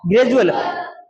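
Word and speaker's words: gradual: क्योंकि यहां पर डी का उच्चारण क्या बन रहा है? ज बन रहा है। क्यों बन रहा है? क्योंकि डी के बाद में यू एल आया है।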